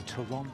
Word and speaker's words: Toronto: say Toronto we say Toronto Toronto Allan says Toronto he does he's British originally mhm actually in Toronto we don't pronounce the 2ts it's happening in the men's